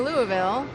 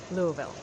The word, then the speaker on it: Louisville: A lot of the southern cities that end with ville, the locals pronounce it by sort of swallowing the vul. Asheville, Nashville, Louisville.